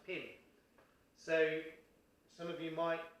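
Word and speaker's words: phin: a traditional tie instrument called a pin p h i n pronounced pin so some of you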